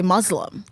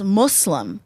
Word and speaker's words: Muslim: it's m so it's Muslim it's not Muslim there's no de Muslim Muslim Muslim like muscles Muslim Muslim yeah there